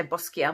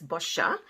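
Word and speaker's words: Boscia: first one is this boscher now some people say bosquia but it's bosha if you pronounce it with an italian accent and this is a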